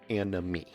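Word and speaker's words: anomie: con this sociological concept called anime not anime and a me all right so it's spelled a-n-o-m-i-e not a-n-i-m-e right we're not talking about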